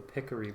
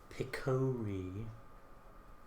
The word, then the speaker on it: Picori: it has to be can't be the pickery blade picori somebody took me to task once for pronouncing it Pier well I apologize for